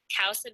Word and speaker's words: Kousa: Kousa dogwood is also resistant please ignore my mispronunciation it's kousa dogwood!